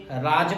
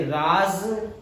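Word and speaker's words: राज़: पर हम लोगों को ज्ञान के अभाव में वो लोग इसे राज पढ़ते हैं, इसे कसम पढ़ते हैं, इसे सजा पढ़ते हैं, इसे गज पढ़ते हैं, इसे तेज पढ़ते हैं। जबकि इनका सबका उच्चारण इन शब्दों से अलग होता है क्योंकि इनके नुक्ता लगा हुआ है।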